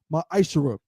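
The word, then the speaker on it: מעשר: You can find this in numbers 18 and 21 and Malachi 3:es 8-10 means 10th in Hebrew and it's pronounced maisher 10% of every penny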